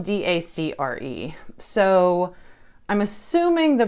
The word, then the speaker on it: Dacre: And the pronunciation was Dacre. And in my head, I was saying Dacre. So it's spelled D-A-C-R-E.